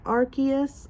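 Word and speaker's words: Arceus: So, um, I played I finally got through most of Archus. I'm going to say Arus from now on, though. I do know it's supposed to be Archus. I hate that pronunciation, so I'm saying Arus.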